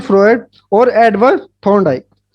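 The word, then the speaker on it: Freud: Options है Erik Erikson, Robert हैविगर्स्ट, Sigmund फ्रॉड, फ्रॉड sorry फ्रॉयड, फ्रॉड नहीं, Sigmund फ्रॉयड और Edward Thorndike.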